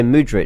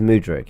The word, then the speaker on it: Mudryk: I'm being used to say Mudryk because I've heard it from everyone, but it is Mudryk. Yeah. Yeah. So Mudryk, he obviously would have been a great person to slide in there.